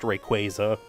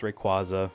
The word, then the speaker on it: Rayquaza: I don't care that Pokemon's trying to retroactively say it's pronounced Rayquaza. That's stupid. It's Rayquaza, just because that's how I said it as a kid, whatever.